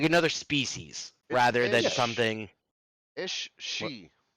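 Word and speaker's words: Aos Sí: is spelled a oos space SII and it's pronounced is she well we know someone's racist against the Irish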